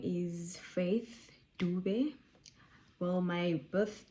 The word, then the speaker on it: Faith: So yeah, Faith, like not face, nicht face, aber Faith, you know.